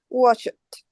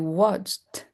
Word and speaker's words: watched: held, locked, sniffed, laughed, washed, watched, kissed, danced, fixed. Guess what? With the watched, watched. Watched. I have to pronounce just the tit.